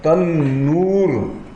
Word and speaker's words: تنور: چولہا جل رہا ہے، تندور یہ اردو تلفظ ہے اور تنور یہ عربی تلفظ ہے۔ یہ عربوں کا چولہا ہے.